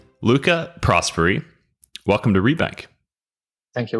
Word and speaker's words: Prosperi: us today please welcome Luca prosperi Luca prosperi welcome to rebank thank you will thanks for having me and thanks for pronouncing my surname right one of the very